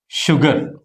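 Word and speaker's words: sugar: అలాగే షుగర్.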